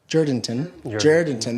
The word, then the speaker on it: Jourdanton: I'm in Jourdanton, Texas, or Jourdanton, that's how the locals say it.